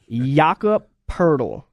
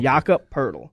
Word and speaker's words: Jakob Poeltl: Jakob Poeltl. Say it with me now. Jakob. Jakob. Jeez. Think of saying Jacob, except with Jakob. There you go. Okay. Jakob Poeltl. Don't overemphasize Poeltl.